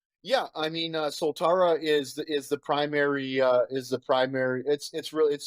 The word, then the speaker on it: Soltara: So about your company, Soltara, is that how I pronounce it? Soltara? Soltara.